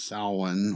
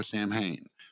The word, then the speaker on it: Samhain: of more Celtic and Gaelic holidays known as Samhain, or most people just pronounce it here because they don't know, Samhain.